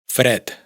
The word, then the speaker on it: fred: árab árabe d se pronuncia como t fred frío y por supuesto la famosa Madrid Madrid G se pronuncia como c dialog diálogo.